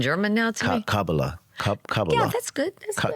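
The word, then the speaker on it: Kabbalah: I don't know if it's a magazine or an article, but you said, how do I pronounce it? You speak in German now to me. Kakabala. Kabala.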